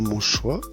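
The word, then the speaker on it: Montgesoye: Donc nous allons quitter tout doucement Montchoix. Ça s'écrit Montjezoy, donc c'est une drôle de prononciation. Donc jusqu'à maintenant c'est encore assez plat, la circulation est encore assez facile. Donc, nous quittons tout doucement Montchoix pour nous rendre dans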